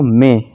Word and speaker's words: may: Next है दोस्तों मे, इसे मई नहीं पढ़ेंगे, मे पढ़ेंगे, MAY मे मतलब सकता है, ठीक है दोस्तों।